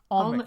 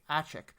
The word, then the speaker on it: Almec: I keep forgetting how to pronounce his name. Almec, yeah, thank you. I was going to say Achik.